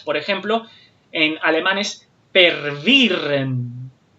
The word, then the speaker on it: verwirren: ejemplo, en alemán es pervirren. Se los estoy tratando de pronunciar con pronunciación más cercana a la española, pero lo pueden comprobar también. Verwirren.